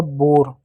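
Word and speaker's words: bore: ओ के बाद क्या है? कंसोनेंट है और इ है तो ई साइलेंट होगा। तो ओ को ओ की मात्रा। आर को र पढ़ेंगे। हो गया बोर।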